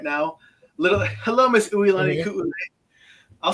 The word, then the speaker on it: Uilani: yeah, it's pronounced Uilani Ku'ule.